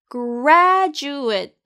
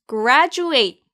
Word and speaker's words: graduate: 이제 마지막 문장이에요 I decided to apply for graduate school 여기서 graduate 발음 주의하세요가 a 아닌 발음이나요 graduate graduate 아니에요 graduate graduate school이에요 잘 참고하시면서 graduate school